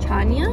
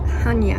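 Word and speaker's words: Chania: around the city of Tana Tanya forgive me we just learned that it's pronounced Hanya the following soldiers who are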